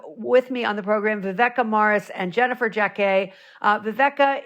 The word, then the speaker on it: Viveca: But anyway, Viveka Morris, and thank you for correcting me on the pronunciation, and Jennifer Jacquet.